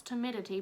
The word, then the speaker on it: timidity: I could actually pronounce timidity because the other day I mispronounced it but I remembered in my little head that it sounds like humidity so we're doing good